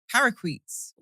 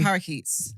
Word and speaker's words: parakeet: biscuit looking at you what we do have here though parquets what the hell is that I the parrots the parrots the colorful ones yeah the green ones how do you parit is that how you say it before they parakeet see this is why mean how I suppos should trust anyone you just said parquet then all go say parquet and I look crazy